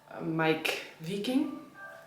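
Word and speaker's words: Meik Wiking: Um, and so yeah, I was like I was reading books about Huga, all that, all the books by Mike Viking. That's how you pronounce his name.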